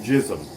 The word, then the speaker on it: GISM: jism okay it's it's gizmo gism it's it's pronounced jism i've even heard the band say that it's